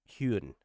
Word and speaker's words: Hyun: And the way that it kind of again sets, you say his name more like Hyun.